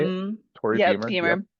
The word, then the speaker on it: Beamer: Beamer like the car.